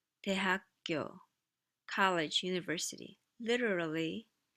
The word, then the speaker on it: 대학교: 대학교, 대학교, college, university.